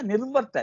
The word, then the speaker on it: निर्वर्त: अतः किञ्चित् भेदः अस्ति महान् भेदः अस्ति निवर्त निर्वर्त निर्वर्त इति उच्चारणं करोतु निर्वर्तयितुं साधयितुम् इति अर्थे